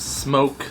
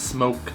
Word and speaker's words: SMOK: Soooo today we got the ultimate smok vapes, smoke, some people are telling me it's pronounced smoke I heard a lot of people say smok a lot of vape